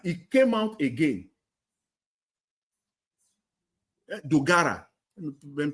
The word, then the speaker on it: Dogara: Tinubu, Bugara, he came out again. Dogara, when pronounced his name, yeah, Dogara, he's the chairman of one of the committees there.